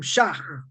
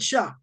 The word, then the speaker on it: Shach: So he told him, so when he named him Shach, as in Rav Shach. But some people have problems pronouncing the ha, right? The cha sound. So he can never pronounce it, he just said Shah.